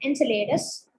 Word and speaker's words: Enceladus: So Enceladus, this is how you can see. In Greek, it's spelled differently, and regularly it's spelled differently.